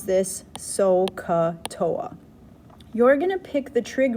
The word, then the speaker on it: SOHCAHTOA: hypotenuse tangent is opposite over adjacent you could pronounce this sohcahtoa you're gonna pick the trig ratio that has